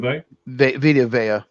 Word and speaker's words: Vea: I think that's how you say his name, right? Vto. Vea. It's Vea.